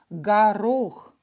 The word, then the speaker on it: горох: First O will be reduced to A. And we will pronounce it as A because it's not stressed. Горох. The second O is stressed.